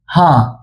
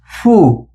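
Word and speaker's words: ふ: এইচ এ, হা। হা। এইচ আই, হি। এইচ ইউ, ফু। এটার উচ্চারণ হু হবে না, এটার উচ্চারণ হবে ফু।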